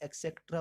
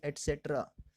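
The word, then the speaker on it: et cetera: काफ़ी बार उसके जो प्रोनाउंसिएशन को गलत बोला जाता है, एक्सेट्रा बोला जाता है, वो गलत है, इसकी फुल फॉर्म होती है एटसेट्रा, ETC stands for एटसेट्रा।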